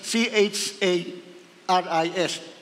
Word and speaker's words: charis: salitang Grace ay kis ang spelling na charis c h a r i s charis ang pronounce ni charis doon galing yung charismata